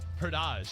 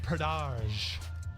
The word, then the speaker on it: Pradaj: So Pradaj is the way you say it. Pradaj. Fancy. I like it. Think about how you pronounce it in Spanish to get a better vibe on the vowels.